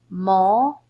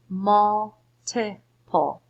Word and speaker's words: multiple: Now, I'm going to say it just the way that it looks. Multiple. Multiple. That doesn't seem right. I think I need to schwa something. I think I need to schwa the middle syllable.